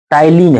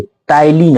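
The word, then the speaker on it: ptyalin: टलीन है। P silent है यहां पे। टलीन है। टी वाई एल आई एन पी है शुरू में।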